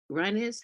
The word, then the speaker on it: Ryines: And Big Bay introduced me to Ryines. Is that Ryines? How do you pronounce it? Ryines. Right. Say it again. Ryines. Ryines, Ryines, just like it sounds, but with a Y.